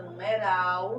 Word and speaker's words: numeral: Então, aqui na palavra numeral, já identifiquei, olha, que ral é a sílaba mais forte e que essa sílaba mais forte, ela é a última nessa palavra, olha, última, penúltima, antepenúltima, sempre do final para o começo. Portanto, essa palavra, ela é oxítona, é a última sílaba mais forte.